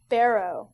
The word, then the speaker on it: Barrow: how do you say your last name is burrow Barrow Barrow Barrow okay I gotta remember that Teddy